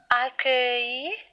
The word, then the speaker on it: accueillir: Le mot accueillir, c'est un mot exceptionnel. D'habitude, le son œil, ça s'écrit E-U-I-L ou bien E-U-I-2-L-E. Mais ici, on voit que le son œil s'écrit U-E-I-L.